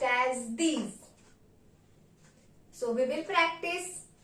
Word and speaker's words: dix: Number 10 will be pronounced as dees. Dees. So let's begin with 6 to 10 numbers once again. 6 C, 7 sept, 8 huit, 9 neuf, 10 dip. 10 is pronounced as dees.